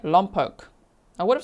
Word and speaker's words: Lompoc: Kelly Lisa says, "Just to let everyone know, I live in Lumpoke, pronounced Lumpoke." Did I say it right? Lumpoke.